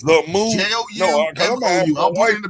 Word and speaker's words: Joumou: How you spell that harmousse? That's the harmousse straight. It's Joumou. So you said it's the move. Joumou.